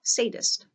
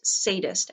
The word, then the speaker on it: sadist: It sometimes calls itself the happiest sadist. Meg spoke coldly to cover her fear. I don't know what you're talking about. That's sadist, S-A-D-I-S-T, not sadist, S-A-D-D-E-S-T, you know. Lots of people don't pronounce it correctly.